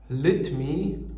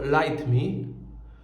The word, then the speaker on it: Lytmi: nic nie telepie okej firma ta nazywa się lit me ale czyta się to light me Jest to model słuchawek